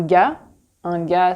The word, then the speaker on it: gars: Un gars, c'est un mot d'argot pour dire un mec, un homme, un gars. On prononce pas le R et on prononce pas le S.